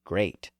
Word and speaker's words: great: plan for my dictionary Lord Chesterfield told me that the wordre should be pronounced so as to rhyme to state and Sir William young sent me word that it should be pronounced as to rhyme to seat and that none but an Irishman would pronounce it great now here were